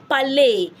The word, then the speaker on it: parlé: When you see that accent on an E, yes, and that E ends a word, just know you pronounce the E as A.